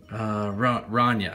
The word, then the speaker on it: Rania: And this is Rania. I think is how you pronounce it, like Sonia with an R.